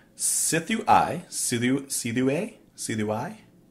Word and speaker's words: Sithu Aye: and today we're listening to excuse me ephemeris pronounced Sifu I soo do-si-do a CD why clearly its I